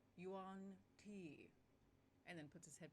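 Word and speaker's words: yuan-ti: head up and says you on t it's pronounced yuan t and then puts his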